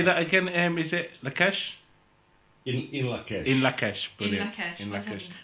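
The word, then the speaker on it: In Lak'ech: In Lakesh.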